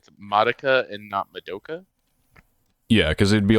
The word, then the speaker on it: Madoka: But yeah, it would be because the MA would be Ma, and then the DO. Yep. Ma Do, and then Ka, like for the KA.